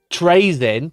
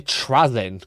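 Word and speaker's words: Trazyn: Well, actually he's not called um Trazin, which I've always called him. It's actually Trazin cuz there's only one Y and it's at the end, you know.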